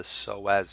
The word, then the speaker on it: psoas: is spelled with AP we don't pronounce it but you do spell it with a P so both of these